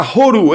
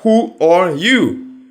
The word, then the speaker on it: WHORU?: o Hachi, se encuentra Horu, el tema que vamos a ver hoy. Yo lo llamo Horu porque ellos lo ponen todo junto, pero en realidad sería Who or You. Esa es la broma, ¿no?